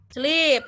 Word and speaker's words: sleep: Nah, maka karena dia E dan double E, maka dia jadinya harus panjang dibaca. Jadi bacanya? Betul. Dibacanya jadi sleep.